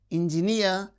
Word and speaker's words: engineer: So, words that end with uh the suffix near receives stress on the suffix itself. Mountaineer, engineer, pay, refugee.